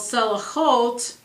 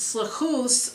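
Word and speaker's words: סליחות: repentance becomes more urgent prayers for forgiveness called cell halt often pronounced slow hosts are added to the daily cycle of religious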